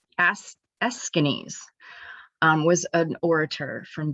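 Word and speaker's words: Aeschines: do this it's because of this guy that's pronounced as eskinis um was an orator from greece and i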